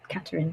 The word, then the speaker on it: Katharine: weekend to be honest it does sound like how people pronounce my name in Spain actually sometimes um because get called Karine katarine sort of more like that um but everyone calls